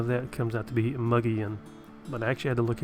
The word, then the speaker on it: Mogollon: tell me how that comes out to be muggy in but actually had to look it up to